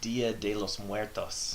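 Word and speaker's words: Día de los Muertos: It's Dia de los Muertos.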